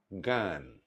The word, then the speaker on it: জ্ঞান: শব্দের আদিতে জ, ইয় এবং জফলাযুক্ত ব্যঞ্জন বর্ণের সঙ্গে যদি আকার সংযুক্ত হয় তাহলে সেই আকারের উচ্চারণ প্রায়শ একারের মতো হয়।